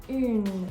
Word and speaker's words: une: That's why un is different from une. With une, you have the E at the end, so the N is no longer going to be silent because of the nasal sound. You're actually going to hear it pronounced.